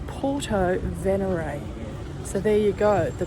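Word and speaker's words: Porto Venere: shops and cafes thank you well I've been pronouncing Puerto Venere as Venere but in fact I heard someone call it a local that is called venerate so it's Porto venary so there you go the pronunciations it's easy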